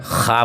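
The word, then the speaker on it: خواب: यहाँ जो है लिखा है ख्वाब, लेकिन हम कभी भी उच्चारण बोलते हैं ख्वाब बोलते हैं।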